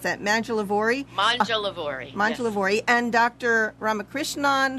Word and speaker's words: Mangialavori: Tell me how to pronounce that. Mangialavori.